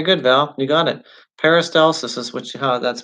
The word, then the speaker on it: peristalsis: down okay very good Val you got it peristalsis is witchy ha that's pronounced very good peristalsis and not propels food and liquid slowly down